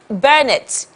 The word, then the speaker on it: Bernett: Is it Bernett? Yes, it's Bernett. Bernett, okay, yeah, so Bernett. Bernett. Bernett. Bernett. That's the right pronunciation. That's how to pronounce Bernett.